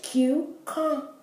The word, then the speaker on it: cucumber: The first CU is pronounced Q. The second CU in cucumber, because cucumber is C-U-C-U, but the second CU is not pronounced Q, right? It's pronounced cum, so it's cucumber.